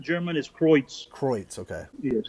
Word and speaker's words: Kreuz: Kreuz? Yes, sir. Okay. Yes, sir. Yeah, that's the real pronunciation German is Kreuz. Kreuz. Okay. Yes, that's the real German pronunciation.